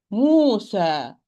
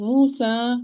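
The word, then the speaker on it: موسى: Musa. I open my mouth vertically well. I'm not saying Musa. I'm not saying Musa. Musa, it's Musa. Ma, sa, ba, qa. Open your mouth well.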